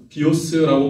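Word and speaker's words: βίος: 헬라어로 비오스라고 발음하는 그 생명은 우리의 육체의 생명입니다.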